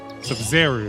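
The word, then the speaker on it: Sabzeruz: Sub-Zero. Sub-Zero, that's how you say it.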